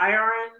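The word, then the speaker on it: Irion: Iron.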